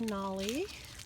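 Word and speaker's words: Nalle: And then, of course, we have Nolly. His name is spelled N-A-L-L-E.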